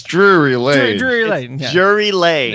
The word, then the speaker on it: Drury Lane: I don't know how to pronounce it. What? Drury Lane? Close enough. Drury Lane? It's Drury Lane.